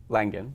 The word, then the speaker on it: Langan: Langan, yep.